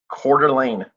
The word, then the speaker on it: Coeur d'Alene: How do you pronounce it? Coeur d'Alene.